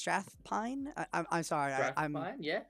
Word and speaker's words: Strathpine: the name um yeah strathfield it's strathpine I'm sorry I'm mine